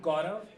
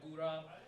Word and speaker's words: Gaurav: I'm Gaurav. It's spelled Gourav. But I also go by, I understand it's hard to pronounce, so I go by Gurav or Gurav.